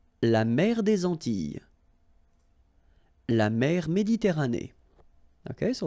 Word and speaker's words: Antilles: double L, S, okay, so final S and really you don't pronounce them, so you get this E sound, Antilles, okay, la mer des